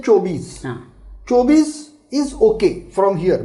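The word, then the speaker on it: चौबीस: 24 is said as chaubis. So chaubis. Now here sometimes the people say chobis.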